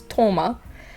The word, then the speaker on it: Thoma: to address thomas but the way uh the japanese uh dub says it it's toma um head canon that his